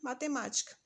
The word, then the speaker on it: matemática: ela também é proparoxítona mais um exemplo matemática e aí a gente vai conferir as posições última penúltima antepenúltima se a antepenúltima ser pronunciada com mais força ela também é proparoxítona outra dica aqui nessa